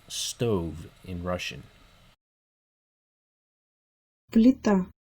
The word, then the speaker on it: плита: Плита. Плита. Плита. This word has a soft l in it, followed by an e.